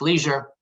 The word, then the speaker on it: leisure: and sorry, sometimes I have the British pronunciation, at its leisure, and then that will be what it's been.